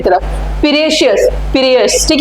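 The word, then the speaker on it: Piraeus: है जरूर आप याद रखना what is the spelling P आर ए ई यू एस पियस ठीक है उसके बाद ग्रीस के बाद हम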